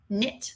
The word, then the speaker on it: knit: Anytime we have a silent letter, like if you did the word knit, like I knit mittens, you would do KN in one box.